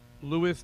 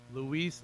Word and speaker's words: Luis: Louis. Did I say it right, Louis? How do you say it? What is it? Luis.